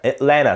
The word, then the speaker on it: Atlanta: plenty plenty, Atlanta Atlanta Atlanta. طبعا هنا ال N T انا مش بنطق T، فنا اتلانا، والتي الاولانيه دي طبعا